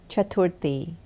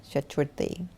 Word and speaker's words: Chaturthi: How do you pronounce the last part? Chaturthi? Chaturthi. Chaturthi.